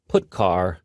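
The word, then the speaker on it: putchar: these three are the most popular they are pronounced printf putcar and puts each function is designed to send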